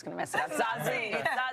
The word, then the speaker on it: Zazie: Zazie. Phonetically spelled.